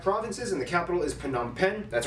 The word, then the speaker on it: Phnom Penh: divided into 25 provinces and the capital is phnom penh that's right people it's pronounced pannam pen not fa-nom or nam pen phnom pen formerly named chakto mook is actually